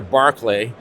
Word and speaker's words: Berkeley: small California town of Berkeley or as you say here Barkley actually Berkeley is called Berkeley because uh the founders were admirers of Bishop barklay but being Americans they had no idea how to pronounce this name uh you know and